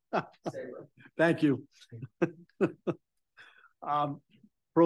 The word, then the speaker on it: Sabre: Dear Butter notification, Michael Sabre, is it pronounced Sabra? Something else. All right, you're originally from Tiverton. How should we pronounce it? Sabra.